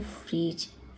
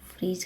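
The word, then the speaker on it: fridge: गुनगुना फ्रिज फ्रिज फ्रिज फ्रिज में डी क्या है साइलेंट रहेगा तो इसलिए हम इसको बोलते हैं फ्रिज फ्रिज का मीनिंग होता है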